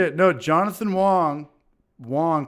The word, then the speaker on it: Wang: Wong but it's pronoun it's pronounced Wong which is spelled w-a-n-g Swiss army knife was